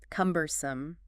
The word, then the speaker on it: cumbersome: Cumbersome. C-U-M-B-E-R-S-O-M-E. Stress. Stress on the first syllable there.